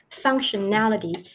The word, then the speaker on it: functionality: Here you see the stress is on the nality, functionality, and you pronounce the T sound very clearly in the word.